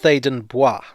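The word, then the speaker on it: Theydon Bois: sensibility showing through but i always think that it should be pronounced thaden boi i'm amazed no estate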